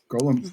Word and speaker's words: golem: listed in dictionaries as you could say it that way, but one L, long O is all I'm saying.